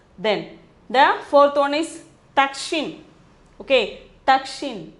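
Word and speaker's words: दक्षिण: Then the fourth one is Dakshin. Okay, Dakshin. Dakshin is pronunciation.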